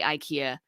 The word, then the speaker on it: IKEA: to give you the ikea example and i say ikea the swedes say ikea and that is the correct pronunciation but when somebody buys